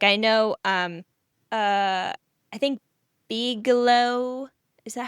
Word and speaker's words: Bigelow: Like I know, I think Bigelow, is that how you say it? Bigelow I think tea?